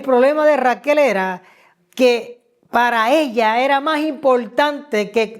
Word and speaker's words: para: acento derivado de la raíz para p a r a con acento en la a que significa ser fructífero